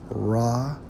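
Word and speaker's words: רוח: According to the Hebrew, which is Strong's H7307, pronounced Rawchaa, right?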